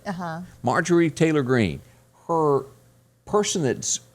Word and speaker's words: Marjorie: Do you pronounce her name Marjorie? Uh-huh. Marjorie Taylor Greene.